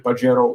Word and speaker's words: Pajero: have a 1997 Mitsubishi Pajero Evo. It's a great car, but the funny thing is that in Spanish, the way you spell it in Latin, Pajero, it's actually spoken as, well, as pajero.